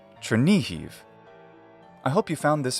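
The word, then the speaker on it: Chernihiv: chair becomes chair or chair ni is like knee the leg joint and who is like heave trinihive I hope you found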